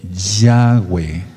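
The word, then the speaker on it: Yahweh: aquí no dice eso aquí dice yagüe así se pronuncia por eso nosotros decimos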